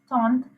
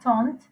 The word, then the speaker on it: tante: les cahiers, le crayon, le père, la tante. This is not taunt, okay? Make a tire na naya pe French land में make a taunt neve taunt. La tante, le frère.